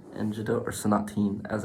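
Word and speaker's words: Sonatine: uh and i chose though it was between sonotan and judo or sanateen as it's actually pronounced energy though and i just i want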